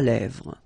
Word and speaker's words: lèvres: Un crayon à lèvres. Un rouge à lèvres. Same thing here, final S not pronounced, and then this E accent grave here, it gives you the E, really open sound.